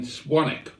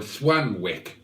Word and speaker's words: Swanwick: and he lives in swanick or swanwick if you prefer to pronounce it incorrectly and sometimes I do